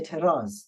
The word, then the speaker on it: اعتراض: And you see that really, I don't say اعتراض, I just simply say اعتراض because the Dad we pronounce like a Z, the ዐyn we pronounce like an aleph, is just اعتراض.